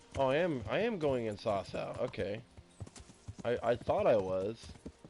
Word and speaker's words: Sasau: Oh, I am going in Sasau.